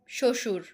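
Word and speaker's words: শ্বশুর: শশুর। কারণ শব্দের আদিতে বফলার উচ্চারণ হয় না।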